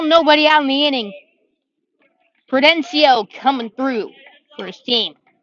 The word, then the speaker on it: Prudencio: number three noah prudencio so it's actually prudencio but prudencio close just gotta get the syllables correct prudencia with the lead